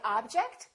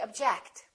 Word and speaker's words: object: we say object or do we say object again it depends on if it's a verb or a noun object is a noun that's an interesting object or verb object I object to your decision let's practice some sentences